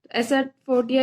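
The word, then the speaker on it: asafoetida: Okay, इसकी जो smell होती है थोड़ी अजीब सी होती है, और इसका नेम है, आंसर इज एसाफोटिया। एसाफोटिया इसलिए क्योंकि इसमें डी साइलेंट है।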